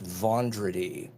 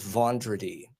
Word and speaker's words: Vendredi: It's actually pronounced Vendredi. So Vendredi, okay. it looks Italian, but it's actually French.